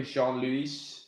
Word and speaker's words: Jean-Louis: Did I say it correctly, Jean-Louis? The S is silent. It's French. That's right.